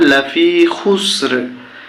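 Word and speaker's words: لَفِي خُسْرٍ: হয় ফের সিনে জজম খুস, র দুই জের রিন, খুসরিন। এখানে থামলে হবে লাফি খুসর।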